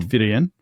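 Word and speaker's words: Fírien: He says fir an old Rohan name representing an old word old English fir pronounced firen for mountain compare um halifian holy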